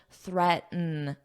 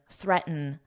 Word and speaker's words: threaten: e n threaten and notice how this T isn't overly pronounced in American English threaten threaten threaten the verb form would